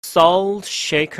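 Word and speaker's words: salt shaker: 나한테 주소 공통 이야 싸우 쉐이크 라고 t 발음은 들리지 않죠 서씨 에이크 알아서 싸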